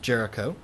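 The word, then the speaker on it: Géricault: name here is Jericho he's French so his name isn't pronounced the way that English readers want to pronounce it uh looks like Gult to English readers but um pronounced Jericho Jericho's raft of the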